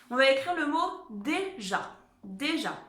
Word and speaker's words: déjà: Et ja, évidemment, pour faire le son je avec le A, on se souvient que c'est un J. Sinon, ça ferait ga.